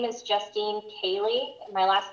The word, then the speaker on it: Koehle: Yes, my name is Justine Cayley. My last name is spelled Koehle, and my office address is 2415 West Falls Avenue, Kennewick, Washington, 99336.